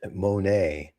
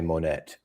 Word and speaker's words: Monet: It's dirt, son. Don't try to church it up. It's Monae. Even Americans say Monae. No, you don't. I do not say Monette.